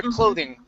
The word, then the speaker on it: clothing: hear clothing clothing okay and we say and it stops i don't say clothing okay if i was going to pronounce the whole g it would be clothing okay but i stopped the sound clothing uh-huh thank you that makes